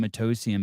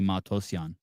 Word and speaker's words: Matosian: He would He doesn't have like like Whitey say My name Mtosian, but it's really Matosian.